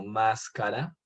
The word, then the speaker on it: máscara: Lo mismo sucede con palabras como máscara, que cuando es esdrújula hace referencia a una máscara, ¿no?